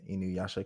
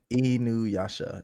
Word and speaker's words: Inuyasha: second statement is I have a cat named after an Inuyasha character.